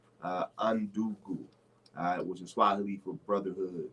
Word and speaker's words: Undugu: The spelling is UNDUGU. Undungu.